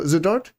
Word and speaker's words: Zadart: So, Zadart, that that's how you pronounce it.